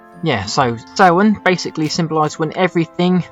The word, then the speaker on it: Samhain: Back then though, the ancient Celts, they called it Samhain, which looks like Samhain but it's pronounced Samhain, and basically that's a celebration where they lit